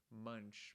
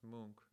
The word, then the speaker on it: Munch: painting by Edouard Mook I thought his name was munch but it's pronounced monk actually it's pronounced monk